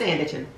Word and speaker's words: Sanditon: Why do I add syllables to it? Oh, it's Sanditon. That's one of my pet peeves, people adding too many syllables to words.